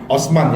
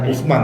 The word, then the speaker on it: Osman: bandara Radi Osman I Osman ya o s m a n Osman bukan Usman ya bukan oe ya oh